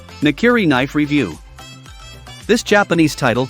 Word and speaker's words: nakiri: knife becomes clear automatically the word nakiri can be broken down into two syllables not and carry in nakiri meaning na